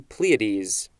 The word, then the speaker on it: Pleiades: the 14th century the brightest star in the pleiades and pleiades is spelled p-l-e-i-a-d-e-s next we have a-l-d all lower